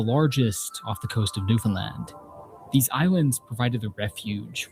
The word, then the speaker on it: Newfoundland: New Finland.